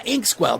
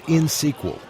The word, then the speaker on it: INxSQL: Harry, it's insql. You don't pronounce the X.